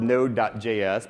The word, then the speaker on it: Node.js: you're unfamiliar with node it's it's spelled nodejs but usually just pronounce it node that the dot j/s is there just to distinguish it from the other hundred thousand nodes people know exactly what